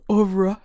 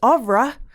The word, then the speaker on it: oeuvre: The idea being that social media is an important arm of the comedian's oeuvre. Am I pronouncing that right? Oeuvre. Oeuvre. You have to have a little bit more snobbishness in your voice.